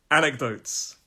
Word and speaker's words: anecdotes: and this one anecdotes anecdotes three syllables let's make that small why is that up there there we go anecdotes so it's on the first syllable anecdotes and an anecdote